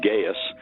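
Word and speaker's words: Gaius: for the ladies uh gaas Bruce not gay but gaas uh gaas Bruce kind of the Roman pronunciation he had just graduated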